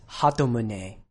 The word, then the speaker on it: Hatun: this make sure that each syllable is getting about the same amount of stress it's not hatun it's hatun hatun and his given name